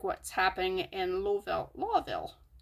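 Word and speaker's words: Lowville: And it sounds a lot like what's happening in Lawville. It's spelled L-O-W, but it's pronounced law.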